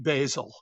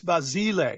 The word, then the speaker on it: Basile: We call it basil. Basil. It's basil. Well actually it's basile because it's Italian but Americans have trouble with that.